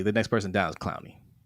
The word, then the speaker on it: Clowney: First he said clown, and then he corrected it to Clooney. It's not Clooney.